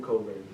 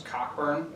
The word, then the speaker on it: Cockburn: Kofi Coburn. Oh, you mean the guy you thought his name was Cockburn? Cause that's how it's spelled.